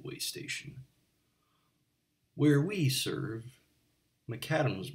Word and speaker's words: McAdams: station where we serve McAdams beer or as the locals say Mack Adams beer that is to